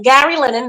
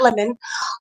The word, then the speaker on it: Lennon: Yeah, Gary Lennon, not Lemon, stated that this is a complete story from 1 to season 3.